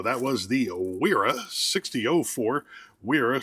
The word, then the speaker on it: Wera: Wera, spelled with a W, saying it with a W.